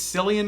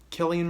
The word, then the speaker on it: Cillian: So there's, I think it's Cillian Murphy is his name, or Killian Murphy. I think it's Cillian Murphy is how you pronounce it.